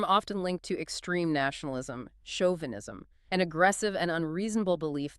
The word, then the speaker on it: chauvinism: The show sounds like sh leading to chauvinism. Ah, so the mistake is pronouncing the shoes as in church.